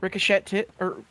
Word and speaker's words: ricochet: what you're talking about pretty sure it's pronounced ricochet no no no it's it's with an e e t it's r-i-c-o-c-h-e-t and that is the weirdest pronoun like this the weirdest spelling slash pronunciation of a word ever